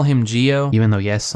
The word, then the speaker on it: Gio: But for the rest of this, I'm just gonna call him Gio. Even though, yes, I know that technically it's supposed to be pronounced Joe, but I don't care.